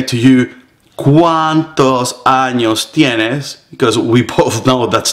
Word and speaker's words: tienes: Once again, notice the T is very soft. It's not tienes, it is tienes. So you place your tongue behind your upper teeth.